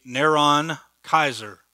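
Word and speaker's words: Νέρων Καῖσαρ: If you take his name in Greek, it would be Neron Kaiser. That's how you would pronounce it.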